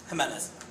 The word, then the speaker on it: Jimenez: Jimenez. Huh? So pronounce it like an H.